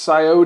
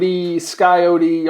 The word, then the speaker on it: Sciota: to learn big scota I've heard it pronounced scote skyote all kinds of different ways but I think it's scota and there's also several